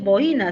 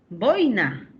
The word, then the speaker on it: boina: Ah, es de los vascos, de la lengua euskera. Y no es boina, sino boina, ¿ya?